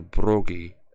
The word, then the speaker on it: Bragi: And for those here who don't know, Bragi, or Brogi, as he is also pronunciated, is the god of poets, and of singers.